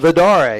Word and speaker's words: Villarde: Villarde, is that how you say it? Vidare. Yep. I'm not good at some of the rolling my tongue on some of these, but he cut that route.